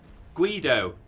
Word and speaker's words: Guido: Guido, apparently, is how it's pronounced.